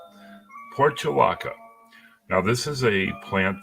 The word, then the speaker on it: Portulaca: And what I've got today is Portulaca. Leanna nodded, I said it right. Portulaca.